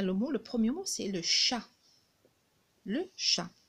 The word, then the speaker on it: chat: le premier c'est le chat le chien si vous avez remarqué si on en était il est écrit en gris on le voit pas parce que on le prononce pas c'est une lettre qui